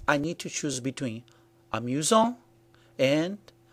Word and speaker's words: amusant: And that's what happens with amusant and amusante. This means that the masculine version is pronounced amusant with a silent T, and the feminine version is pronounced amusante with a T pronounced clearly.